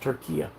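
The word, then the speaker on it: Türkiye: Um I had a couple young guys on today earlier from um uh Turkey. And now it's pronounced Turkia.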